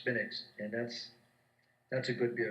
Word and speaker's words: Smithwicks: But they have a drink over there, a beer called Smittix. It's Smithwicks. But they pronounce it Smittix, and that's a good beer.